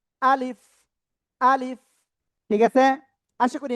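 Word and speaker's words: ألف: আলিফ। উচ্চারণ কেমন হবে? আলিফ। আলিফ। ঠিক আছে। প্রথমে আ তারপরে লিফ। নিচের ঠোঁটের পেট উপরে দুই দাঁতের আগায় লাগাবেন। লাগিয়ে হালকা বাতাস বের করবেন।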